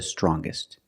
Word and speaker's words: strongest: er or with est, we're going to pronounce the g sound, the hard g. So it's younger, with a g sound. Stronger, the youngest, again with the g sound. The strongest, gist, the strongest.